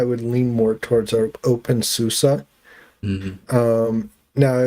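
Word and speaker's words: SUSE: with open s Yeah, it was pronounced open sus, but uh it's written open sus s u s e, but they say susa because it comes from Germany and that's how I guess Germans pronounce that. I don't know. But anyway, I've been told it's open susa.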